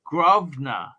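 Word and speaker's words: Grosvenor: usable abc two pounds the s is silent in grovner gov grove grove now who is hardcore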